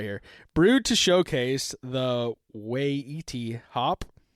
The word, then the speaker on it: Waiti: Brewed to showcase the Waiti hop. It's weighty. Weighty.